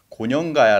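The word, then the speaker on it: 고령가야: 혼동 을 피하기 위해 요즘 에는 ' 고련 가야 ' 라고 발음 합니다 .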